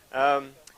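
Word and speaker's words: Pacejka: Delft has I think Pajeka is that the right pronunciation? Pajeka or Paseka? Pajeka. Pajeka models.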